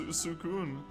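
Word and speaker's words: Suicune: in the anime, it's pronounced Sukun.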